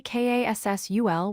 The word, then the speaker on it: castle: The word castle is spelled C-A-S-T-L-E, but we say K-A-S-S-U-L without the T sound.